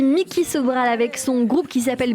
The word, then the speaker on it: Micki Sobral: Et on est en train d'écouter sur l'antenne de Radio J Mickey Sobral avec son groupe qui s'appelle Behind Locked Doors. Si j'ai bien prononcé. Bonjour Mickey.